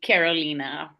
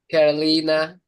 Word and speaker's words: Carolina: Welcome, Is it Carolina? How do you say your name? Sorry, because I'm from Australia. Like we say things weird ways. So I'm Brazilian. So in Portuguese, we would say Carolina. Carolina.